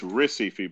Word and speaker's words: Recife: Well, it's Recife, but everything with an R is pronounced with an H.